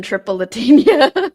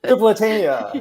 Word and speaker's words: Tripolitania: I don't know if that happens for anybody else, and I don't know why, but I think of ice cream. Yeah. Like Neapolitan.